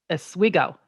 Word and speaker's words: Oswego: who lives up there says it's pronounced Oswego yeah I think you're right I'm from Minnesota so we like the a you know Oswego yeah Oswego yeah yes